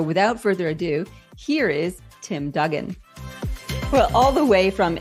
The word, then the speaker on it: Duggan: here let me just actually check that I pronounced your name name properly because I didn't check with you before we started recording Tim Dugen yes you got it exactly correct God okay